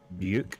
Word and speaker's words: Ryu: if there was like a big community of English speakers who would pronounce Ryuk as Ryuk.